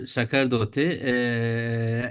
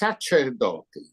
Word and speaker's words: Sacerdoti: So in Italy, it is Sacerdoti. In France, it becomes Sacerdoti. In England, in it became Sacer. In Germany, Sacerdote. And in English, it's whatever you wish.